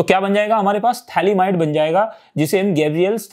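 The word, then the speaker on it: phthalimide: उसमें P silent होता है, कई बार हम लोग उसे पैथैलीमाइड बोल देते हैं, लेकिन ये याद रखना है वो थैलेमाइड बोलते हैं, उसको P साइलेंट रहेगा।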